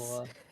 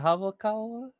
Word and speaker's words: Hayakawa: Hayakawa. Yeah. Is it Hawakawa?